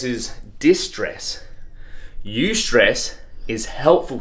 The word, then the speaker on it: eustress: one it's called eustress I don't know if I'm saying it right but it's spelled EU s TR e SS so you stress so it's like a